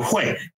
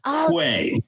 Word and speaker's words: 会: And if something sounded like hui, hui bu hui, and I would say, oh, hui, H-W-A-Y, hui.